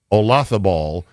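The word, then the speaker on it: Olazábal: And so I gave her a little coaching up on it's the Loth that is the key, the heartbeat of that name. Jose Maria Olafo. It's Spanish. The Z is a thath.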